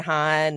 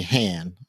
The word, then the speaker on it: Han: It's definitely a thing where characters will pronounce his name both ways. So I think um like Princess Leia will most likely say Han and then Luke Skywalker will most likely say hand like like your hand.